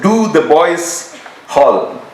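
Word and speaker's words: Dotheboys Hall: and she would say it is pronounced do the boys Hall because that's where the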